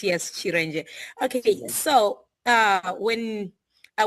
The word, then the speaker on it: Cerenje: Uh my name is Chir. That's actually how I pronounce it. Yes. Chir.